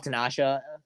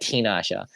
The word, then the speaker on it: Tinasha: And you know, I still love Tanasha. Why do I say it like that? Tinasha. Not Tasha.